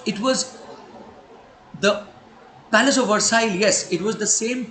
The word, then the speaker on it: Versailles: Versailles is pronounced as Versailles.